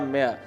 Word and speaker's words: mare: I think he was either a castrated man और अ मेयर. तो मे MARE, तो इसको भी हम मेयर इस तरह प्रोनाउंस करते हैं, लेकिन इसको कहना है मे. आर इसका भी प्रोनाउंस नहीं करना आपने.